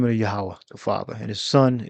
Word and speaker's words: Yahawah: We got Yahawah. All right. The J this would be a Y a H A W A H. Yahawah. All right. So that's the name of the Yahawah the father.